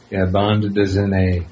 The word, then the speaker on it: bande dessinée: Band dessinée. I didn't take French, and I barely passed Spanish, so I don't think I'm pronouncing it correctly. But that's all right. Yeah, bande dessinée. Bande dessinée.